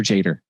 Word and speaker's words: Yader: I made people confused because I put it with a J, but I pronounce it with a J, but it's spelled with a Y. Okay. So is it Yader or Jader? Because I want to say it right. Oh, both.